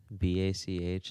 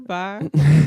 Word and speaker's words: Bach: is that what it's pronounced? BACH, like Bach.